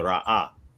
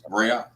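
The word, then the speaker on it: ראה: So the aleph represents a glottal stop, and then the ha is vocalized, right? So you got the ra'ah. So that's how it should be pronounced.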